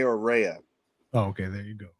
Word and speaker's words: Rea: could say um rehea it it can be pronounced Reay or Ria I go by I go by Ray or rehea oh okay there you go there you go